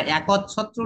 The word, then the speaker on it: একচ্ছত্র: একটা অ এসেছে, সেটাকে আমরা উচ্চারণ করছি ও। আমরা একচ্ছত্র না বলে একচ্ছত্র বলবো, তাই না?